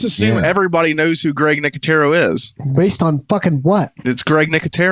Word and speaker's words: Nicotero: because I know this guy so well it's nicotero nicotero yeah you just let me you just let